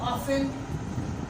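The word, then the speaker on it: often: मैंने वर्ड लिखा ऑफन, मैंने वर्ड लिखा लिसन। अगर आप दोनों में देखो तो ईएन से पहले टी आ रहा है, टी, तीनों जगहों पर टी आपको साइलेंट मिल रहा है।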